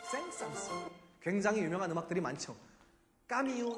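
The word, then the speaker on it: Saint-Saëns: 공부에 사이트에서 옛날에 우리는 생산 이라고 불렀어요 변화도 프랑스 발음 표기에 사람 이름이 들어가면 마지막 s 로 발음해야 된답니다 센서스 굉장히 유명한 음악들이 많죠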